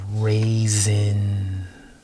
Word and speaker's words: raisin: Basin, and then we have raisin. So you have a raisin with that S turns into like a Z.